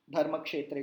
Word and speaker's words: धर्मक्षेत्रे: का अंतर होना चाहिए धर्म क्षेत्रीय को रूप क्षेत्र वो गलत होगा सही उच्चारण क्या होगा धर्मक्षेत्रे कुरुक्षेत्र समवेता yuyutsav तो नोटिस कीजिए